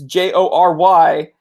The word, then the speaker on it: Jory: it it's all good it's like Corey but with a J here's a quick tangent